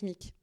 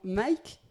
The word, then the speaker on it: Micke: Déjà, j'aurais prononcé spontanément ton prénom Mike. Mick, ça vient de Savoie ou c'est tes parents qui ont décidé que ça allait se prononcer à la française ?